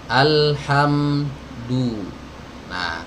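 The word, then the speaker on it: الحمد لله: de de Ilham d-night salah Alhamdulillah kalau maju ini jadi sempurna pelafalannya Alhamdulillah Alhamdulillah baik kemudian hati-hati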